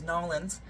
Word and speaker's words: New Orleans: Number one, my shirt, and I say it New Orleans. Apparently it's important that you guys know that my bus driver told me the correct way to say it is Nolans.